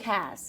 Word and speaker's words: Haas: And I'm like, guys, it's Luke Haas. Drop the S, pronounce it like H-A-Z.